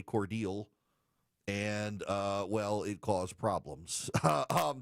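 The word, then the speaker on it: Cordele: So she went to what in Illinois is Coeur d'Alene and said Coeur d'Alene, but in Georgia we say Cordial.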